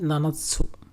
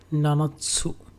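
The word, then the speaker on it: 七つ: যদি 7টা জিনিসের কথা আমি বলি, তাহলে হবে নানাৎসু। সেখানে আবার শিশিৎসু বলা যাবে না, সেটা উচ্চারণ হবে এরকম, নানাৎসু।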